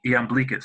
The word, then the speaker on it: Iamblichus: But yeah, Iamblichus.